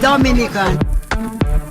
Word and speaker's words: Dominica: boom we call it Dominica a nature I love the Caribbean it's one punch time we call it Dominican it is spelled d-o-m-i-n-i-c-e it is not Dominican Republic it is pronounced Dominica and it's situated between